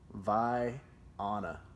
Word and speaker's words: Vienna: Like a Vienna sausage. Wrong. What is it? It's like Vienna. Like pie, but Vi. Vi. Yeah. Vienna. And then Anna instead of Anna.